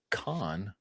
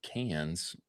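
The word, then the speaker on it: Cannes: A little segment on con or cans, however you say it. I think it's supposed to be pronounced con. I think that's how you're supposed to say it.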